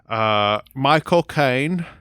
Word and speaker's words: Michael Caine: Obviously, Sandra Bullock and how do you pronounce his name? Is it Michael Caine?